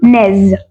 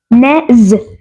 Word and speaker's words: nez: word is nose which is also very simple Nez Nez very simple spelling n e z Nez then